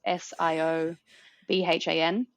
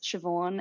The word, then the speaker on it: Siobhan: english spelling conventions um s i o b h a n so in gaelic s i o makes a sh sound and b h makes a v sound um it's actually pronounced